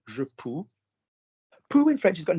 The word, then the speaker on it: je peux: So basically, je peux, change the vowel. So not je veux, but it's going to rhyme with it.